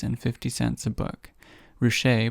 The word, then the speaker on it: Ruscha: 50 cents a book richer pronounced r-o-o-s-h-a-y made his photography broadly